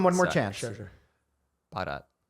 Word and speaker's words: Bharat: Bharat. Bharat. Bharat. Turkmenistan. Bharat. Can you spell it?